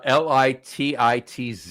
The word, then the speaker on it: Lititz: then and and it's there's a town uh l i TI TZ it's pronounced l litit l pronounced litz it's pronounced lits Lititz what are those they're Lititz there you go